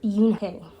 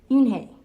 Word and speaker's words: Unhei: turned to joey she nodded slowly yes it's pronounced yunke and it means grace mr kim added yoon hey joey said slowly and this time perfectly it